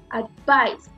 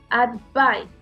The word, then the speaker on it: advice: Entonces aquí es advice, advice, advice. El primer sonido no tiene mi estrés, lo tiene suave. A donde sube mi fuerza de voz es al final, advice. Y ahí es a donde yo tengo mi fuerza de voz. Por eso sé que esa es una palabra que tiene su sílaba tónica al final.